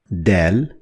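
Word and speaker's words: دال: As you can already guess from the pronunciation of Dal, it is compared to the sound D in English, like in the word door. Door. So Dal, D.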